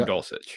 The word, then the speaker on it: Dulcich: Is it Dulcich? Is that the correct pronunciation of the tight end there? Yes. Yes, Greg Dulcich.